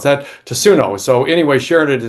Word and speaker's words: Tatsuno: I should know how to pronounce that. Tatsuno.